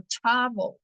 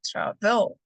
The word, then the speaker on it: travel: Travel es otra palabra, entonces mi stress está en la primera sílaba, digo travel, no travel.